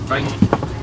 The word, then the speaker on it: wit: Get their name not from the coloration, but from the mispronunciation. The Afrikaans word fight. That means wide, big wide jawline.